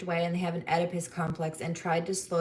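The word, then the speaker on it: Oedipus: This person has what you called a uh I can I cannot say this right because the O is silent in the neck edipus complex.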